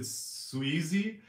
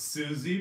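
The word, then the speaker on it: Siwsi: calendar i pronounced it sweezy but it's actually pronounced suzy because it's welsh ah so it's welsh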